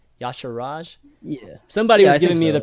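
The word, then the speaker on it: Y'Shaarj: sure Raj that's right that's how are you pronounce it right yah sure Raj yeah somebody given me the pronunciation yeah sure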